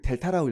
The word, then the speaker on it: 델타: 그리고 이걸 델타라고 읽어요. 에? 아니 수학을 지금 싫어하는 학생들 있다. 삼각형이 아니라 델타라고 해요. 델타.